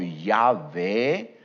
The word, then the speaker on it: Yahvé: Posiblemente la pronunciación haya sido más cercana a algo como Yahweh o Yahvé.